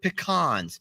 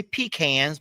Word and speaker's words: pecans: these are chocolate covered pecans now you guys may say peans but you're saying it wrong pecans they're not peans that makes no sense they're PE wait I